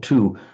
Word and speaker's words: two: In English, written too, we've lost the pronunciation of the W. We used to say två in older English, but the pronunciation of the W has gone, but we still write it in two.